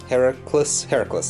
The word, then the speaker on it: Heracles: than that he's got the armour of the Heracles, that's how you pronounce it.